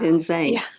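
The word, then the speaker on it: Insein: the main prison there the name of it is insane which is spelled inss i n but it is insane it it is the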